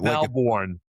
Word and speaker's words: Melbourne: That's how you pronounce Melbourne. Melbourne. It's not Melbourne like all the Americans say. It's Melbourne like Melbourne, Australia.